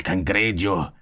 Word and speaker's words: cangrejo: It's pronounced cangrejo. So the J is not really pronounced.